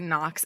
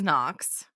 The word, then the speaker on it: Knox: laughing so hard so we can agree that noox is Knox yes okay and Lark